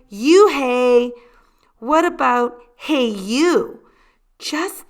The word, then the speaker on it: Unhei: it's spelled u n h e i it's pronounced oh it's you hey the boy said like you hey what about hey you just then the bus